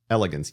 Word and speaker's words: elegans: means animal with elongated body and no legs spell it what's the name c Elegance yeah C period Elegance e l e uh G ANS Elegance instead